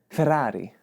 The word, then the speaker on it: Ferrari: I mean, I've always said Ferrari, but you know, the Italian in me, I should probably pronounce it a little differently, right? Like Ferrari.